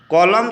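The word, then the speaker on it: column: हैं अगले प्रश्न का तरफ अगला प्रश्न हमारा कॉलम शब्द के उच्चारण में कौन सा अक्षर मूर्ख है कॉलम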